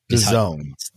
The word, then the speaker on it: DAZN: And as well, what's that streaming service called? I call it DAZN. Is it not pronounced that? What's the spelling? Tell everybody what the spelling is. DAZN. DAZN. DAZN. Is how you pronounce that brand. DAZN.